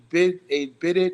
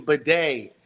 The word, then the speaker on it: bidet: A Bidit is a water that cleans your back. Oh, my bad. I said I've been wrong pronunciation. Bidet. Bidet. That's what I'm like. Bidit. It's a bidet.